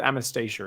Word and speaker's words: Anastasia: Anastasia and I think we'll go with Anastasia is how I will pronounce that I just realized we've